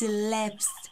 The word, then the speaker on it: elapse: of you no offens it's not leps asn't going wrong around and around a racetrack it's elapse spelled like this and it means time